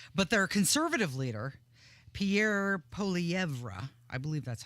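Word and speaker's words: Poilievre: Parliament we'll see but their conservative leader Pierre poeva I believe that's how you say it you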